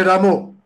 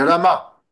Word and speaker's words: Rama: prononciation lui avait dit qui est Ramo Ramo c'est Rama donc les Bengalis ont le